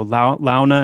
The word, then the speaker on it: Launa: So Launa and Hauta, that's how I pronounce it.